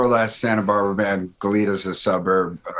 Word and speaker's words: Goleta: Goleta's a suburb. Goleta. It should be pronounced Goleta.